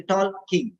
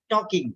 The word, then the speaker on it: talking: They speak like that because they don't know that L is silent. So they say tall king. So it will type tall king or wall king. So that means the pronunciation is mistake. You think talking, but it is typing tall king.